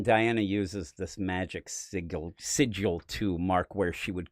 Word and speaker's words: sigil: You know, I was never sure of that word. I used I used to pronounce it sigle when I was a kid.